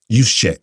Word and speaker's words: Juszczyk: But did you see the report, Kyle, whose name I cannot pronounce, the fullback? Juszczyk.